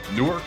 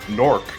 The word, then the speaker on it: Newark: It's a beautiful city, however, there's 3 different ways of pronouncing it. Newark, if you're not from Newark. Nork, if you're from Newark. Or if you're from Delaware, Newark.